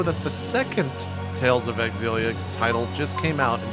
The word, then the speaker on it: Xillia: know it's not zilia I was told the x is pronounced and thus it is named Tales of exilia tales of exilia is